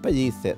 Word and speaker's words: Pellicer: Sí, Miguel Juan Pellicer. Ah. P-E-L-L-I-C-E-R. Es como pellizco. Pellicer. Pellizco, también se escribe con dos L's. Como pellizco, sí, pero Pellicer. Pellicer.